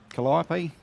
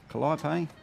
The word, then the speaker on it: Calliope: Calliope, Calliope. Tomato, tomato.